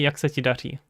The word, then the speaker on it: jak se ti daří: I'm pronouncing way more than I would in Czech, of course, but hey. We got here a proper R sound just to mess you up.